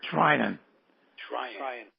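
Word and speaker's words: Treinen: They went to I can't pronounce his name. Trinan.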